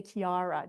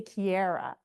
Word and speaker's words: Chiara: The Italians know how to say it right. If you're American, you can say Chiara. Just don't say Chiara, okay?